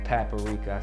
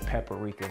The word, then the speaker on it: paprika: may have noticed that I mispronounced paprika I said pepper Rica people gave me a